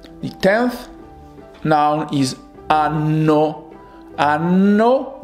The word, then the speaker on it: anno: Anno with double N. It kind of stressed out the consonants.